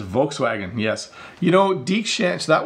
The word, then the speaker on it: Volkswagen: This is Volkswagen, or I think I'm supposed to say Volkswagen, but in English we usually just say Volkswagen. It's a very Englishified pronunciation of it, right?